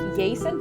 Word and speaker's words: Aesen: Quirrell says, I think Aesen's name is usually pronounced Yason? Yason, thank you.